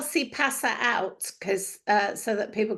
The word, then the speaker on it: CPaaS: Think que pasa, as in what's going on.